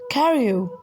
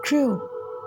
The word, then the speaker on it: Crewe: They pronounced it Carew instead of Crew."